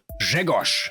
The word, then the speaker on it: Grzegorz: Grzegorz. You may have noticed I pronounced it differently from how it's written. At the end of a word, voiced consonants become devoiced, but the spelling stays the same.